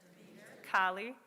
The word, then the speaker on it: Kali: So before we begin, I'll give you the quick pronunciation lesson. Isis, Astarte, Diana, Hecate, Demeter, Kali, Inanna.